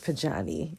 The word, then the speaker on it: Pojanee: I'm just saying, I pronounce it Pojanee, all right?